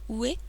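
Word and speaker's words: 上: Lorsqu'il est seul et qu'il signifie O, il se lit Ue, mais lorsqu'il est combiné pour former le verbe grimper, par exemple, on le prononce Noboru.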